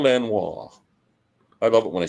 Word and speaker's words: Lanois: I pronounce l Lang's name is Daniel Lano not L there's no G it's Lanois Daniel Lanois I love it when